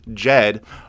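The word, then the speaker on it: Djed: that they have planned jed which spelt d j e d d is silent now jed is an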